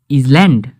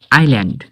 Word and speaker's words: island: ISLAND এটাকে কি পড়ব ইসল্যান্ড? জি না, ISLAND এখানে এস সাইলেন্স, একে পড়ে আইল্যান্ড।